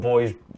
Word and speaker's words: Bhoys: Now our final stop will be over in the Midwest as the Indianapolis Old Boys, and that's spelled BHOYS.